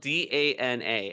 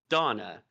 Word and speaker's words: Dana: boy's name in this video game is uh it's spelled D A N A and I annunciated it as Donna.